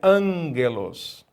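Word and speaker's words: ἄγγελος: gente nesse curso que o gama quando ele é precedido é sucedido por outro gama ele é nasa nazar lado ou seja é a pronúncia ângelus e o que é angra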